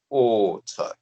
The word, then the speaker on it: autre: Now, this pronunciation at the beginning of the word autre. So AU together gives you what sound? Oh. Oh.